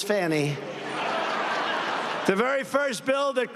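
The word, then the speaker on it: Fani: to apologize to Fanny it's F ni she pronounces it fny f i don't see it to me it's Fanny the very first bill that crooked Joe sent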